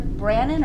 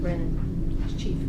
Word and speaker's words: Brennan: mix right now, and I always get his name wrong, but Sheriff Brannon or Brennan? Brennan. Chief. And I always say that wrong too. Chief Brennan.